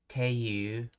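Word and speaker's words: ていう: In Kansai dialect, it is very common to hear toiyu pronounced as teiyu. Let's see. Teiyu and further shortened to chu.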